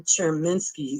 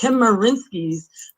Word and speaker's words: Chemerinsky: I sent you all a very lengthy email with which transcribed Dean Erwin Cherminsky, I always say his name wrong, Chemerinsky's interview with Politics in Black with me and Chad Brown.